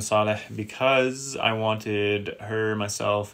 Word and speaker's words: Saleh: it is but it wasn't before it's actually pronounced Saleh and I actually chose the name Saleh because I wanted her myself and my kids